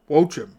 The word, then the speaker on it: Joaquin: I've been saying Joachim. Well, apparently, it's Wochim. Or something close to that. Much like how you start J-O-A and Joaquin. Should be Watcham? It's either Wochim or Watcham.